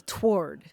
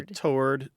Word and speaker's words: toward: it like it's written they pronounce the W it's two syllables not one you know I think I grew up saying it one syllable toward with the w so there's three pronunciations there so toward toward and toward so I'm glad Leslie